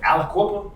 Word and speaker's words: Aliquippa: you're from Pennsylvania and uh I hope I'm pronouncing this right Aliquippa that's it so I had to I it